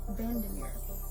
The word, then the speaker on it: VanderMeer: And today we are going to be talking about Annihilation by Jeff Vandermir.